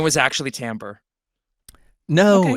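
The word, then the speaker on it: timbre: it tambra or Tim I always say timber because it's spelled Timber pretty sure it's pronounced tamber tamber I think you're right tamber I dated a girl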